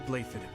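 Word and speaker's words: Blaiddyd: I am playfully crown prince of the holy kingdom of Fergus that looks that sounds nothing like how it's spelled what okay delightful news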